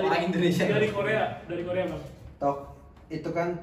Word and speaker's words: tteok: Tok itu kan TTEOK itu arti bacanya tok. Jadi T-nya cuma dibaca satu, jangan dua-duanya.